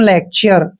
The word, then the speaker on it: lecture: और इस वर्ड में देखिए LECTURE, इसको पढ़ते हैं हम लेक्चर। लेक्चर में हमने टी का उच्चारण देखिए चे किया है।